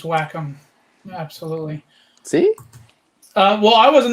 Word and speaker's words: Wacom: So it's spelled WACOM. Some people call them Wacom. Wacom is, I think, the way you're supposed to pronounce it. At least that's what the people who work there call it. So that's what I'm calling it.